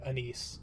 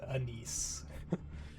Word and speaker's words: Anise: We earned a promotion here, and yeah, promotion for Anise. I did touch base with, Nikkei information to pronounce that name because Anis was not correct. Anise.